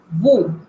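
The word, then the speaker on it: vous: ustedes o vosotros escucha but notarán que la s no la pronunció porque la regla dice que no se pronuncia trae una excepción que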